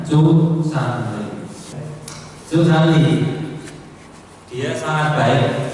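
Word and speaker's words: 足三里: Bacanya Cu Sanli.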